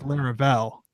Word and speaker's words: Laravel: you say it Taylor larel okay come on lar I think the emphasis is on the Vel like a lot of people say like larel but I think Taylor says larel Lar very subtle I've